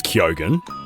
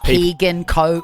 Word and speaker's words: Keoghan: We've always said that correctly because it's Keoghan. And what do people say? Keegan, what do they say? Kogan? Keoghan. I've heard Keoghan before.